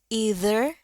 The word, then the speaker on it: either: Nah, ini kalian boleh pilih, ya. Either atau either a waistcoat pocket or a watch to take.